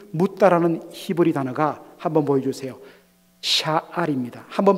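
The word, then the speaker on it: שָׁאַל: 여러분, 흥미로운 것은요, 다윗이 하나님께 묻자와 하나님께 물어, 영어로 ask, inquire 이렇게 번역되는 이 묻다라는 히브리 단어가, 한번 보여주세요, 샤알입니다. 한번 발음해 보십시다. 샤알, 샤알입니다.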